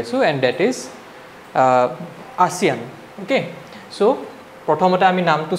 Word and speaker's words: ASEAN: আছো and that is ASEAN okay so প্ৰথমতে আমি নামটো চাই লওঁ এটো এছিয়ান বুলি তোমালোকে ভুল নকৰিবা pronunciationটো ঠিক আছে so ইয়াৰে